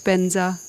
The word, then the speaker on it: Vajra: to Sanskrit, you know, like where Vajra becomes Benza, you know, which sounds quite different, at least to me.